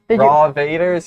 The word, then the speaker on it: Rovators: The Rural Rovators, is that how you pronounce that? Yeah. Rovators, yeah. Rovators.